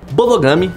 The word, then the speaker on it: Bodogami: Bodogami vem da palavra board game, pronunciado em japonês, claro.